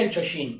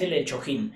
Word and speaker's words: El Chojin: dar el chuchin gente se pronuncia el chuchin pero me gusta más el hecho him así que ahora sí